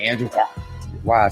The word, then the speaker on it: Huang: Nah, you know, I will watch some of those, you know, when Andrew Wong, I think it's pronounced Huang or something, like Andrew Huang.